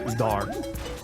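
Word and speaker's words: Ztar: Yeah, it's spelled Z-T-A-R, Zdar.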